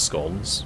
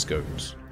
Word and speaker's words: scone: one SC scon scon we've established that he says it's scon but he did also accept that the march here told him that it can be pronounced scones scone is definitely how he's